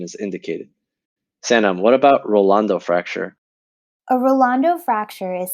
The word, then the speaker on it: Rolando: and then the metacarpal with a rolando fracture you have three syllables rolando so you have at